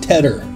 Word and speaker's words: tedder: a guy named Ted we call this a Tedder that's spelled te dee dee ER and a Tedder is